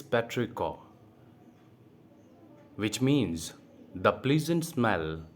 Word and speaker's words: petrichor: The correct pronunciation it's not patricio, it's patrico, which means the pleasant smell that is left behind the rain.